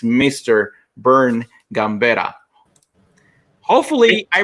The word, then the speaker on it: Vern Gambetta: goes beyond one specific element and it's mr bern gambera hopefully i pronounced your name correctly bernie you did you